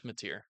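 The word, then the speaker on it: Mateer: Yeah, it's Matier. Is that how you pronounce it? Yep. Okay. I have it. Yeah. Jay Matier.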